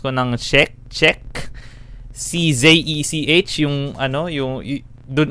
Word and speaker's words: Czech: Hindi ko sure kung tama yung pag-pronounce ko ng Czech. Czech.